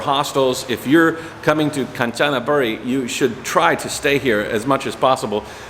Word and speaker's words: Kanchanaburi: Hey guys, Matt here in Kanchanaburi. Is that how you pronounce it? Kanchanaburi. Kanchanaburi. Kanchanaburi.